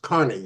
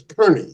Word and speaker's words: Kearney: spent time with us his last name was spelled the same as yours but pronounced Carney you're you pronounce yours Kerney is that right yes